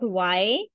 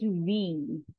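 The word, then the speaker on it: wie: is V in German it is not y it is V if you will pronounce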